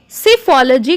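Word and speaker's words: psephology: comparative studies है उससे सिर्फ लाल जी कहते हैं देखिए इसमें पीस साइलेंट है हम बोलेंगे सिर्फ लाल जी लिखते समय हम इसमें पी लगाएंगे अमेज्ड ई ऑफलाइन प्रॉब्लम्स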